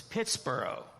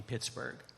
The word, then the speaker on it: Pittsburgh: So probably the first pronunciation of this was Pittsburgh. And then later on, it became Pittsburgh.